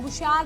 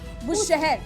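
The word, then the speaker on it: بوشهر: ये जो nuclear power plant है बुशार, जो ईरान का न्यूक्लियर पावर प्लांट है, बुशहर, जी बिल्कुल वही। आप मुझे चाहे शहर बोली तो शहर बोली, शहर ही है प्रोनाउंसिएशन।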